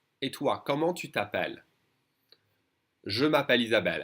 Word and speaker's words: je m'appelle: Je m'appelle Isabelle. And the French will always pronounce it faster and they will skip this E and say, je m'appelle.